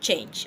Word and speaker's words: change: The same spelling as an English change, okay? You see, I said change. I didn't say change. That is to buttress on the CH. The CH being pronounced as sh.